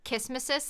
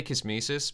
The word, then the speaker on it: kismesis: supposed to be pronounced i usually pronounce it kismesis like nemesis um like kiss nemesis yeah i think you're